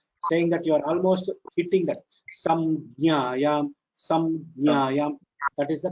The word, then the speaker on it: संज्ञायाम्: So it should be pronounced as samjnaya, samjnaya. The jna should have a dvitva. It should have a duplicative effect. So samjnaya, you should press on that jna, saying that you are almost hitting that.